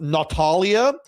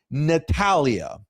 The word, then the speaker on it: Natalya: Your ridiculous argument that it's pronounced Natalia has been proven wrong by Natalia herself. in a promo where she said clear as day, and I quote, as God is my witness, Natalya.